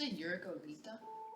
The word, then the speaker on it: Yuriko: It's euroita. Light Yes, Cammy. That is the traditional pronunciation.